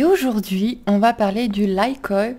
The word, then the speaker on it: Lykoi: Bonjour à tous et toutes, c'est Nessendil sur The Horizon et aujourd'hui on va parler du Lykoi. Je le prononce à l'anglaise.